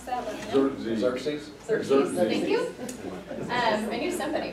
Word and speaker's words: Xerxes: If anybody knows how to pronounce that, let me know. Xerxes. Xerxes, thank you.